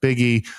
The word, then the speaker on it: Buege: And Jeff Buege, pronounced Biggie, our honorary Mormon, coming to you from the greater Salt Lake City area.